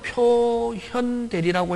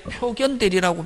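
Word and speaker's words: 表見代理: 그래서 지금은 표현대리라고 읽지만 옛날에 1970년 이전에 법과대학 다녔던 아저씨, 한 70 넘은 아저씨들은 선생, 어? 우리는 학교 다닐 때 표견대리라고 배워서 표견대리라고 읽어도 관계 없다.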